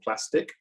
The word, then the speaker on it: Plastiq: One is called Plastic, which, because it's a fintech, isn't spelled like plastic, it's spelled with a Q, so PLASTIQ. And the other one is Melio, MELIO.